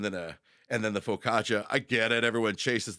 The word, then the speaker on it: focaccia: we're all different so is that how that's pronounced Focaccia Focaccia yeah I've been saying facisha for my entire life unless I'm wrong I'm wrong but nobody's